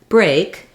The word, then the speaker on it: break: the fireplace for example this same pattern of the EA saying a also happens in the word Break um so taking a break and uh um breaking the brakes in the car have the same pronunciation and again they both have the a dip thong um so even just